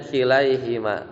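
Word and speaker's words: كليهما: setelahnya itu kan mansub maka jadi kilai ya kilaihima bukan Huma ya bacanya kilaihima wakil Oh jadi kembali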